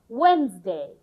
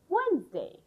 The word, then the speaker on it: Wednesday: This d is silent. So it's called Wednesday. Wednesday.